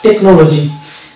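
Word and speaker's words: technology: দেখব যে মানে এই জায়গাতে কিন্তু এইচ এর উচ্চারণ আসছে না। এই যেমন টেকনোলজি, তাহলে এখানে আমি টেক পেলাম, হ্যাঁ, অ এর উচ্চারণ আসছে, মানে সি এর উচ্চারণটা আসছে, এইচ এখানে উচ্চারণ হচ্ছে না।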